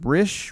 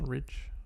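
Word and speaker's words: Risch: james rich i don't i'm not sure how to pronounce his name rish rich rich r-i-s-c-h we're gonna say rich okay um asked secretary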